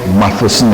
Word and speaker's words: Matheson: Matheson. I just put my tongue between my teeth to say it.